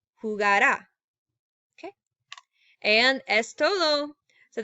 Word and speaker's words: jugará: to say is that make sure when you are pronouncing this, and we'll go over this more in clase, is that since all of them, except for the nosotros form, have an accent mark, make sure the emphasis when you're pronouncing goes on here. Jugará, right? You're like climbing a mountain.